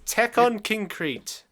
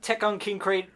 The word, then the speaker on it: Tekkonkinkreet: it's basically like a it's a child misinterpretation of the like it's like it's not actually pronounced like that it's how a child would pronounce it like kind of wrong so let's talk about